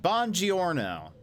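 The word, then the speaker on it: buongiorno: shake down 1979 uh hello or should I say bonjourno still haven't perfected my pronunciation we'll say she says it bon giorno so I'm going to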